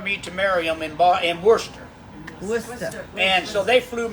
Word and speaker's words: Worcester: Worcester, that's right. Worcester. I always pronounce it bad.